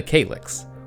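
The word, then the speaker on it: Cailleach: woman known as the Kalyak. I've also seen it pronounced the Kalix, or the Kalyak, but I'm going to say Kalyak.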